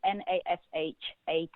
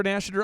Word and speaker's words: Nashater: We have a lot of Oklahomies listening that I guarantee you if they try to spell that, we're going to get it wrong. Well, maybe the name is Nashater.